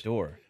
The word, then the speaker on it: dour: you obvious right yes of course door all right door door never heard that d o w